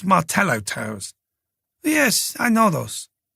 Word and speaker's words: Martello: I think they're called Martello towers. "Yes, I know those," Escara said with a smile. "They are in fact called Ma towers." He pronounced the double L as a Y.